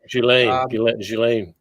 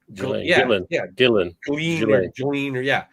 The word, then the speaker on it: Ghislaine: Ghislaine. Gillen.